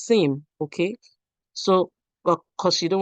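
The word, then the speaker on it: SIEM: You said CM. It is SIM.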